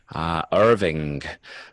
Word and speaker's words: Irving: How do you spell that, please? IRVING.